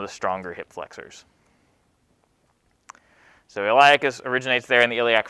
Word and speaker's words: iliacus: And the reason the iliac fossa is important, or the significance of that landmark, is the iliacus muscle, and it's spelled I-L-I-A-C-U-S, iliacus, iliacus muscle, originates there in the iliac fossa.